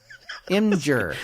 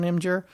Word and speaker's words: Imgur: But there is no vowel between the M and the G. I fully realize that. Imgur.